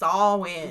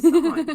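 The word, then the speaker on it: Samhain: m h a i n, but it's pronounced sin. Very strange. It is, but that's how I guess how the Irish call it salmon. And she calls it sawin tomato tomato.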